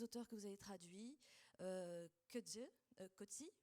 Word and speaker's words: Coetzee: Parmi les auteurs que vous avez traduits, Coetzee, on dit d'ailleurs, on prononce Coetzee, Steinbeck, Thomas Wolfe, Jane